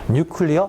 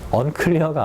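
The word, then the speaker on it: nuclear: 조만 가면 오브 뒤에 뉴클리어 발음 주의하세요. 언클리어가 아니야. 언클려는 여러분이는 뭐 깨끗하지 않아지 핵의지 핵에너지의 잠재적인 위험 아무리 많이 강제도 지나치지 않다.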